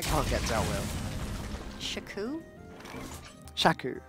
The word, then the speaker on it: Shaku: dealt with shaku shaku I've never heard it pronounced that way shaku is that just is that just a meat thing no I I no I've heard sunki prum pronounced like six different ways but I never heard shaku pronounced that way that could just be a me thing huh I don't hate it well now I'm self-conscious about it rhymes with a chew oh okay Stone Hill